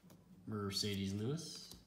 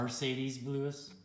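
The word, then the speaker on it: Marcedes Lewis: you're going to miami dolphins dion jordan mercedes lewis no you said the name wrong mercedes lewis there you go get out of here you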